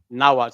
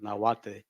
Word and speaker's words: Nahuatl: The L is silent, but a lot of people say Nahuatl, Nahuatl.